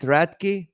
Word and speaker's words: Radke: lovkin Texas originally raty hi hello hello good to see you did I say it right is it raty it is it you did exactly right yes now I love